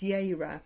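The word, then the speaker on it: Jera: And then the last rune stone you've got here is called, it's the it's got a J, but it's pronounced Yeira.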